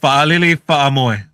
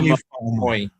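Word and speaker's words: Fa'alili Fa'amoe: When you see that apostrophe, that's what you call it? Yes. So see how it's a that's how you say it. So Fa'alili. Fa'amoy. So whenever you see that in island names, yeah, Fa'amoy. Yeah. Okay. All right. So it's not Lily Moy.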